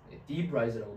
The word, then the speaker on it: debris: It is much easier for us as humans to understand how a hard head will protect our head from feeling debris, debrise라고 발음해야 됩니다.